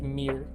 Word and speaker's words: Myr: think about it but it's actually pronounced Mir um whenever you cast